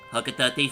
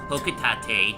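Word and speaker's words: Hocotate: Fun fact, a lot of people tend to mispronounce it as... I thought it was Hokutate. Fun fact, many people mispronounce it as Hokutate, as did this fucknut named James.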